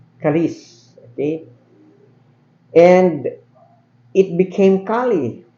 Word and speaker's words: kalis: way it it's being pronoun it's should be pronounced as kalis kalis okay and it became Kali first of all